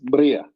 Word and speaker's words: Mriya: You will hear it's being pronounced different ways, but if I got it right, it's Maria. Yeah, Mriya.